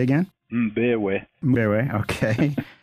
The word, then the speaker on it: Mbewe: Mbewe. Mbewe, okay. It's spelled M-B-E-W-E, folks, so you can see I might have a problem with that.